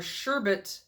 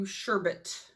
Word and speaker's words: sherbet: bright, bold colors are sherbet to turn heads, as a reference to this orange, which is called You Sherbert. Sherbet. Growing up, I always pronounced it sherbert with an R, like a second R.